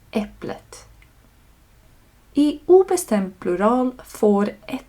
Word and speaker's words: äpplet: Detta görs för att göra uttalet enklare. Så det är inte äpple ett utan äpplet.